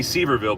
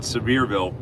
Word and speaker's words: Sevierville: That whole area, Gatlinburg, Sevierville, and it looks like it would be Seaverville, but they don't pronounce it like that. They call it Sevierville. They pronounce it that way.